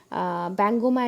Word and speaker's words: Bihangama: the chicks of the Bihangama and Bihangami, Bangoma and Bangomi in Bengali pronunciation, or in the Bengali name, Bengali colloquial name.